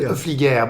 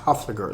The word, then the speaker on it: Hoefliger: So if you try in the French version, Hoefliger, but in the U.S. I asked to be pronounced Hoefliger, like Hoefliger with a ho.